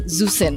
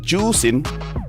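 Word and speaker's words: Zhuxin: about how to pronounce zusin no no it's pronounced as juin juin so it's not zusen I can speak mandrin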